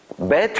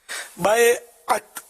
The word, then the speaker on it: بیعت: بیعت، بیعت نہیں، بیعت صحیح تلفظ ہے۔ بیعت کا لفظی معنی